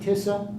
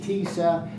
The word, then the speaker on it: TISA: Some of you pronounce it TISA. Some pronounce it TISA. I've heard it both ways in the legislature. Don't worry about it. I call it TISA.